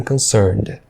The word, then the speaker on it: concerned: E a palavra concerned, você percebe que ela não pronuncia a terminação ED, ela termina no som de N. Concern. As far as my parents are concerned.